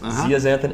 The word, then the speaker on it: zeaxanthin: zeaxanthin lutein and zeaxanthin correct spelled with a Z actually not an X zeaxanthin and lutein yeah now